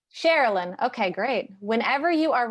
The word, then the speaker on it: Sharilyn: Sharilyn, like Maryland. Sharilyn.